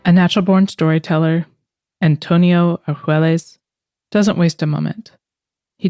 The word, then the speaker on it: Argüelles: well tell me your last name if you pronounce it right I don't want to busher it okay my name is Antonio Ares Ares I'm from Mexico go and um I have